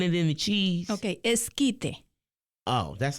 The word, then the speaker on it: esquite: But so is elite, is that Mexican food for real, or is that American Mexican food?